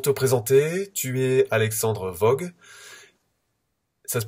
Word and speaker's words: Woog: Alors pour te présenter, tu es Alexandre Vogue, ça se prononce comme ça?